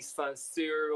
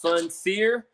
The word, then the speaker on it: Soncier: tell people who is Soncier the Hero. Well, first I want to get the pronunciation right because a lot of people call me Soncier or Soncier, like it's French. It's just Soncier.